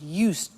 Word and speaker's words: used: listen to the pronunciation I said used with t sound used not use it or you said used that's very important to distinguish it from the other verb use okay used the next